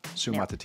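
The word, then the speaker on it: Suamataia: And if nothing else, you learned how to pronounce the name of that BYU tackle who I... Sumatatia.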